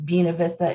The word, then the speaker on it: Buena Vista: to buena vista and no i am not saying it wrong that is how you say it when you live in winston-salem it is buena vista it is not buena vista make sure that y'all